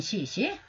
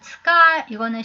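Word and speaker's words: 使い: 그 다음은 츠카, 이거는 시니가 아니고 이거는 츠카이. 그냥 니는 지워버리면 되고요. 츠카이를 찾았으면 돼요. 츠카이. 츠카이는 심부름이죠. 이런 경우에는 츠카이라고 있습니다. 시라고 읽지 않고.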